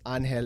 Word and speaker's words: Angel: His middle name is Angel, but it's pronounced Angel in Spanish, so I had to get him with that one.